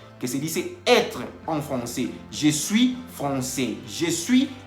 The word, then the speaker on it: français: También comentamos que français se escribe con AI. La AI en francés se pronuncia E. Entonces, por eso dice Tomás que je suis professeur de français. Y no está diciendo, en ningún momento está diciendo que je suis professeur de francais. Así no se dice.